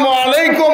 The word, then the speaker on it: আসসালামু আলাইকুম: ব্যক্তিদেরকে সালাম বলো সালামের উচ্চারণ শিখতে হবে সালামের উচ্চারণ করেন আমি বলি আমার সাথে আপনারা বলবেন আসসালাম আসসালামু আলাইকুম ওয়া রাহমাতুল্লাহ যারা ভাইয়েরা দ্বীনি ভাইয়েরা এখানে এসে